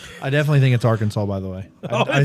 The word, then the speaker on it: Arkansas: Yes, it is spelled that A R K A N S A W. Arkansas.